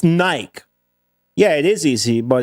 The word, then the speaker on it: Nike: Hey, I'll pronounce You know, it's Nike.